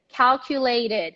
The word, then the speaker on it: calculated: animated feature yes so i want to hear that animated calculated all right don't eat that last syllable okay can you go